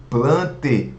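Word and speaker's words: Plantae: Animalia e o reino Plante. Olha só, A com E pronuncia apenas o E.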